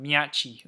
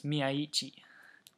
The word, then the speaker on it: Miyaichi: Those English commentators, they've got me saying his name wrong. They they keep going Miai or whatever, but it's Miai.